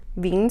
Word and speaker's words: Qveen: I don't know if we're pronouncing the Q or not. It's Qveen. So I want to say Queen, but I know it's not Queen because it's a V, not a U.